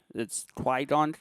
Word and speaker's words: qigong: Qi Gong. That's that's how it's read, but Yeah, it's Qi Gong. it's qigong. And Yeah.